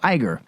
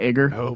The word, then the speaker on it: Iger: it at all according to Disney CEO Bob Iger is how you say his last name right yeah Iger it's not Iger episode s director JJ Abrams is so Keen